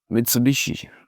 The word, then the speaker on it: Mitsubishi: Mitsubishi, Mitsubishi, Mitsubishi.